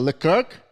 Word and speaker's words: Leclerc: We call it Leclerc?